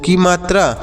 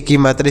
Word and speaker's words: come: म, E से ए की मात्रा, इसे को में पढ़ेंगे। तो आपको इसे को में नहीं, कम पढ़ना है। यहाँ पर O का उच्चारण नहीं किया जाएगा और E का उच्चारण भी नहीं होगा।